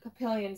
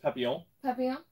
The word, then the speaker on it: Papillon: hence the name uh papillion cycles i might have given it away it's pronounced papillon that's butterfly in french beat it nerd just